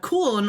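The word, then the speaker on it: Köln: I was in bond and uh cool or the way the Americans would pronounce it is cologne um they had piler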